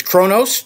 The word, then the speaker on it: Qonos: up here manjaro hello i'm going to pronounce this the way it's spelled which is something from star trek actually it's kronos 21.2.1 and if somebody else